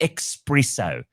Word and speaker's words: espresso: Why must you say espresso like like What? What is wrong with you? Do you know how to spell it? Right. There's no X.